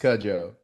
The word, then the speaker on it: Cudjo: Real last name is Yes. pronounced Cudjo. Yep. Okay. I do like Cujo.